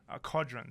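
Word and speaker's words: Qodron: So I'm not very good at pronouncing this boss's name. Kodron? Kodron.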